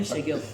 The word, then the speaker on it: Xegun: But the last letter you don't say it.